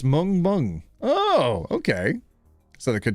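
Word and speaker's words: 멍멍: It's woof woof in Korean, pronounced mung mung.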